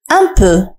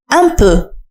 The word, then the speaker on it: un peu: كلمة قليلا هي un peu. Un peu. ردد معي un peu. حاول أن تنطق جيدا صوت أ في آخر كلمة un peu. Un peu. ليس un peu وإنما un peu.